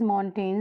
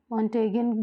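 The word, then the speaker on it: Montaigne: So answer is मॉन्टेन से. मॉन्टेगिन बहुत बोलते हैं, वो प्रोनाउंसिएशन आप पे डिपेंड करता है कि आप कैसा करना चाहते हैं, है ना.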